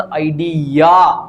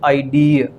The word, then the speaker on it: idea: तो इसीलिए ये जो शब्द है इसका उच्चारण आपको ऐसा करना होता है, इट इज नॉट आइडिया, इट इज आइडिया।